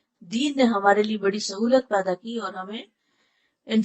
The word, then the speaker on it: سہو: کا فعل بھی ہے۔ سہو ہوتا ہے، سہو نہیں ہوتا، سب لوگ اپنا تلفظ بھی درست کر لیں۔ سہو جیسے لغو، ٹھیک ہے، کرم، نفس، سہو۔ سجدہ صاحب کے اسباب،